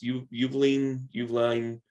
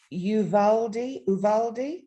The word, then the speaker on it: Uvalde: here in Texas, is Uvalde. Yes, it was in Uvalde. Yeah, you only pronounce half of it around here, hon. That's just how we go.